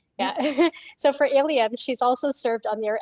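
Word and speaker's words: ALiEM: And you pronounce that acronym as ALIUM, is that right? Yeah. So for ALIUM, she's also served on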